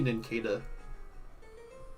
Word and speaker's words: Nincada: Because that would be Nincada. It's like a ninja cicada.